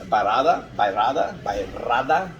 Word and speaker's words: Bairrada: But Baga is the grape varietal, and then it says right there, Bairrada, if you can roll your R's well, try it.